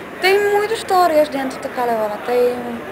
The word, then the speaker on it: Kalevala: É Kalevala. Kalevala. Então a sílaba tônica é o K. Kalevala. Um pouco sim, mas não é muito forte.